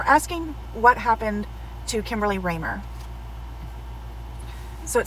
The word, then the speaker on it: Kemberly Ramer: name correctly um because it's k-e-m instead of k-i-m um which i thought was unique um and then how to print her last name is raymer so let's get started